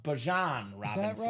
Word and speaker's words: Bijan: Found out, apparently, Alex, it's not Bijan. He says it's pronounced Bijan Robinson.